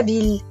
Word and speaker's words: ville: ville de bordeaux attention il faut dire et prononcer la ville pas la bille en colombie bonjour node